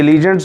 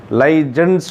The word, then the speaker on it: ligand: देखो प्रोनाउंसिएशन में वेरी, कई लीजेंड्स भी बोलते हैं, लाइजेंड्स भी बोलते हैं, लाइगेंड्स वह जी प्रोनाउंसिएशन आम तौर पर चलती है।